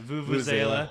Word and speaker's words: vuvuzela: Vuvuzela.